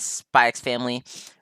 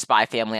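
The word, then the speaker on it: SPY×FAMILY: Kings Core 2 and spikes family or it's just spy family I know you're not supposed to pronounce the X my bad um but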